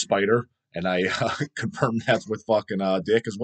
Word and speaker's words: Spiter: so it's spelled s-p-i-t-e-r it looks like spitter spider but it's a pronounced spider and i confirmed that